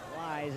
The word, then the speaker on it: Lie: nope i wanted to express my apologies on the pronunciation guide i was told that i had cooper lie's name wrong he had it on the pronunciation as lay it is a lie so my apologies not